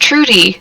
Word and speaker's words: Trude: It was like, guys, I'm pretty sure it's pronounced Trudy, just with an E.